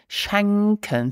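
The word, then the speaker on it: schenken: verb shanken let's repeat shanken so you need to open the mouth for the correct pronunciation shanken Let's Make a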